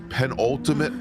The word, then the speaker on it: penultimate: We'll be starting the penultimate lap here in just a moment. So Zach Rivard, the S is silent in penultimate, by the way.